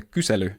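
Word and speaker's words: Kysely: and this is the kusu typescript library yes that is how you pronounce it it's a Finnish word uh kusu is an om/ query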